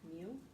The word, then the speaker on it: mu: It's pronounced like mu.